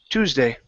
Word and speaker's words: Tuesday: word here is Tuesday the E does not make a sound so instead of saying Tuesday it's TW Tuesday Tuesday good all right excellent